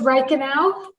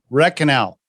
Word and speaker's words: Reichenau: for the listeners uh so it's rain canal red canal red canal yes is that german german